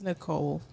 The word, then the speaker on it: Nichole: troll and now like it's Nicole the age is silent yeah Real G's moving